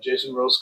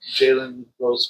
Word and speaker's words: Jalen Rose: Yep, I did Jason Rose car Oh, and I always say it wrong. Jalen Rose car.